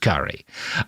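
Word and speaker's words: K'gari: to Fraser's Island, called Gari by the natives, right? He spells it Karina. I don't understand why, but it's pronounced Gari, where he remained for nearly a year.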